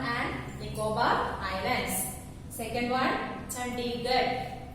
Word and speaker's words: Chandigarh: Second one, Chandigarh. It's pronounced as Chandigarh.